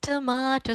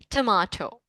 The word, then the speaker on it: tomato: British people say it like tomato and the Americans say it like Yes. Uh yes, Americans say it like tomato. Tomato. Right. So both are okay. Both are correct. You can use whatever you like. Tomato or tomato.